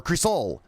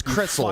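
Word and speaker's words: Crisol: And also, Creasel, or Creasol. I don't know how it's pronounced. It's how I looked up. It's like Cree and then Soul. How Phil calls it is Crystal. Fucking gay bitch.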